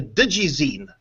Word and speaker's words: digizine: Well, digizine, have I pronounced it? Yeah, digizine.